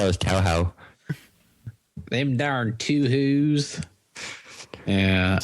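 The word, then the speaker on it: Touhou: How do you pronounce that? Toho.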